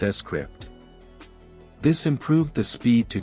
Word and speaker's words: Scrypt: algorithm for transactions called Script pronounced s script this improved the speed